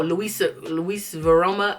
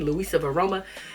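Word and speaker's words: LuisaViaRoma: Oh, Luis Varoma. I'm saying it wrong, but I'll pop up the website. Luisa Varoma.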